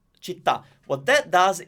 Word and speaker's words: città: Okay, so basically, you will find a word that ends with the stressed syllable. Then we'll say, for example, città. Città.